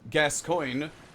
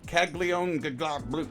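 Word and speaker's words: Gascoigne: up Kaka okay so yeah that was Father gascoin which for some reason 10 years ago people had a hard time pronouncing it's not it's g s cyg gas coin not kagon glams yes we're making fun of English speakers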